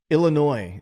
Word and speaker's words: Illinois: So that's actually how I vet if I know somebody is from here or not, because everybody else calls it Illinois, and it's the S is silent.